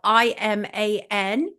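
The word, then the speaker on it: Imane: So his name is spelled I-M-A-N and then I-man.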